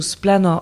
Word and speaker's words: Splan: Alors, Splan qui se prononce bah Span en Breton ou Splan en français est un média d'investigation